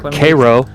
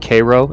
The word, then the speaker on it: Cairo: of the Ohio and the Mississippi River near Koo that's the pronunciation give me a sec I want to